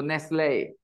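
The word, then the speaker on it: Nestlé: but in other languages when e comes at the end and they have an accent they have sound a so Nestle okay Cafe Cafe right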